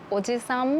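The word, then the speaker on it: おじさん: おじいさんとおじさんも同じです。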